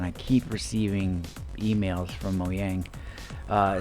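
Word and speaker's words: Mojang: want to pronounce it I say moyang because you know it's Norwegian or something for that effect I think uh and the J is pronounced as a y so yeah sound um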